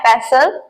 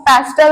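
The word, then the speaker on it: pestle: English में बोलते हैं पसल पेसल यहां पर आपको ध्यान देना है टी वर्ड साइलेंट है तो आपको पैस्टल नहीं बोलना पैसल बोलना है because she is silent next है तकिया तकिया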